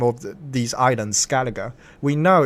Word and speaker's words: Skellige: The name of these islands, Skellige, we know it's pronounced like Skellige until we get the games and we hear the English, these English vocal, they pronounce the word Skellige.